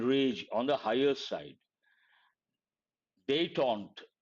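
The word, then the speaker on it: détente: on the higher side day taunt how do you pronounce this day Taun part of speech noun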